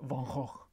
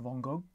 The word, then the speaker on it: Van Gogh: going to butcher this, his actual real Dutch pronunciation is something like Van Gogh. I'm sure that was probably off, but there's a lot of guttural throat action if you want to try to pronounce his name correctly. And in France, as far as I can gather, they say something like Van Gogh. But I'm just going to use the plain old Anglo version Van Gogh today.